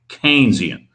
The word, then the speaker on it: Keynesian: in the Keynesian segment it looks like Keynesian but it's pronounced canes like Raising Cane's chicken fingers Ian Keynesian that is the name